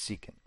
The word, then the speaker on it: secant: for the first time people often don't know how to pronounce it but it's seeking now before we had